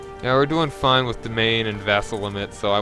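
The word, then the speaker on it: demesne: Yeah, I I honestly pronounced it wrong until I pronounced it de Desmond or whatever it is until I heard Arumba pronounced it correctly. I I pronounced it so stupidly and then it's like, oh wait, it is domain.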